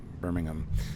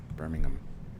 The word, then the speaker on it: Birmingham: And it was a pleasure to absolutely meet him in Birmingham. So, see, I said it right. Birmingham.